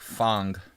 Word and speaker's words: Fang: Fang, if you're really trying to pronounce it correctly, I guess in Chinese it's like Fang, but I'm calling it Fang because Fang sounds cooler.